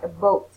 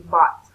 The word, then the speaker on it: bought: both tickets but yeah because you pronounced like a boat it should be yeah it should be bought you bought tickets they're